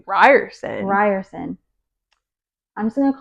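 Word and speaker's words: Riorson: I was saying Rioren. How do you say that? Oh, I say Ryerson. Ryerson. I'm just going to call him Zaden because I was saying Rorson, but maybe it's Ryerson.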